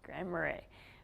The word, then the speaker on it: Grand Marais: This is Grand Marais. Yes, Grand Marais. I said it right.